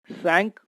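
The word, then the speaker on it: cinq: Q at end also pronounced as K, that is sank, means 5.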